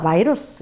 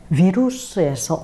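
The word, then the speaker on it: virus: 뭐 영어로도 그렇고 뭐 영국 사람, 미국 사람 다 바이러스 그러는데 워낙은 라틴어, 독이라는 뜻의 비루스에서 온 말이 바로 바이러스인데요. 프랑스에서는 비루스, 그렇죠? 그래서 라틴어에 가까운 발음을 그대로 유지하고 있는데요.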